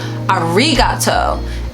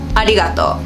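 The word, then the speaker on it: ありがとう: great example because literally if you think about the r as an l you could pronounce it right arigato which is arigato right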